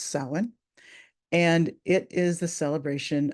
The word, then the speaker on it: Samhain: It's spelled Samhain, but this is an Irish word, and so it's pronounced Samhain, and it is the celebration of the dead.